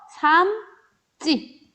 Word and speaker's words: 삶지: 리을 미음으로 끝나고 뒤에가 지읒으로 시작했어요. 그래서 삶지 요렇게 여러분들이 발음을 한다라는 거죠.